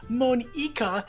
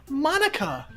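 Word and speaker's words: Monika: That's not how you say my name at all. It's not Monica, it's Monica.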